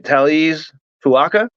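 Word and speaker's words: Taliese Fuaga: shakers here, and I'm going to try and pronounce this, all right? Taliz Fuaka?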